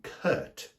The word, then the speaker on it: Kurt: Then there's also the name Kurt, as in K-U-R-T, which is the same as the word curt, C-U-R-T, which is when you are rudely brief.